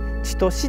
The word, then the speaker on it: 千年: 千年と書いて千歳っていうふうに読ませるんです。